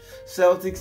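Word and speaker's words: Celtx: hope you got that Celtics Celtics is spelled c-e-l-t-i-x now Celtics then final draft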